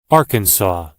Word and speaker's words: Arkansas: 이 말도 발음이 까다로운 편인데 우리말 외래어로는 아칸소라고 하지만 영어로는 Arkansas라고 합니다. 뒷부분의 발음이 동사 C의 과거형 saw와 똑같죠.